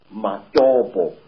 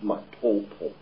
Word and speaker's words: Matopo: And one of these parts of Africa, sir, is a remarkable place called the Mountains of the Round Rocks, Matopo, wrongly pronounced Matopo, in Zimbabwe.